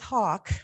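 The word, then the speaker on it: Haugk: And that's exactly what Kenneth Hawk, the author of this book, was trying to do. His name is spelled H-A-U-G-K, but I understand it's pronounced Hawk, so don't let that concern you.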